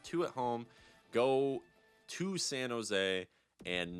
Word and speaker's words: San Jose: so we beat the San Jose shars I know it's not J but uh I know you don't pronounce the J but you know you